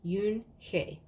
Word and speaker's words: Unhei: said to her with his eyes open wide Yoon hae looked quickly at mr. Kim then turned to Joey she nodded slowly yes it's pronounced Yoon hae and it means grace mr.